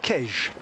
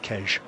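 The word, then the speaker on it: Queige: That's how you pronounce that word. I did have to check today. There are some gentlemen on the finishing line here in folkloric costume who I identified with forensic ability as locals. And I went up to them and said, how do you say this? And they said Kej.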